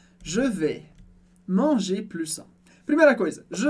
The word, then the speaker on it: manger: De novo, em commencer você percebeu que ER termina em E, e a gente pronuncia simplesmente E no final. A mesma coisa aqui em manger, comer.